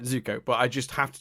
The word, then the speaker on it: Zuko: it you keep it's you always call him zuki or zuku and then like my internal just got reaction to zuko zuko do it right say it right zuko but i just have